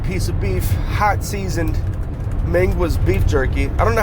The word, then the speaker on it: Mingua: Pepper, a liter Mountain Dew, a bag of natural style made from a solid piece of beef, hot seasoned Mingua's beef jerky. I don't know how to pronounce it.